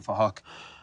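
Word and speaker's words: Phuc: It was spelled with a P-H, so it sounds like Fahok.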